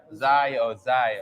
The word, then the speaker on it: Zaya: How do you pronounce his name? Is Zaya or Zaya? Zaya. Zaya Wade.